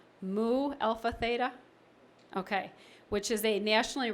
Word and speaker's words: Mu Alpha Theta: and I had to ask her how to pronounce us it's Mu Alpha Theta ok which is a nationally recognized math organization